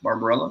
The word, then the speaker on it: Barbarella: Barbarella? Is that what we're going with? Barbarella?